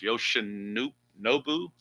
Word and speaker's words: Yoshinobu: I guess it's pronounced Yoshinobu, maybe, Yamamoto.